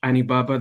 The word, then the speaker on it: Anibaba: my name is anibaba that's like alibaba with an end i just thought i'd